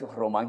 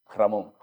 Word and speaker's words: Román: Mi nombre es Román. Sí. Casi siempre cuando se escribe, cuando se lee, se se le ve Ramón. Sí, Román.